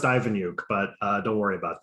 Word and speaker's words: Iveniuk: excited to um invite esteemed creator author veneuk to the show so welcome uh nice to have you here thank you uh it's actually pronounced ivanyuk but uh don't worry about that everyone gets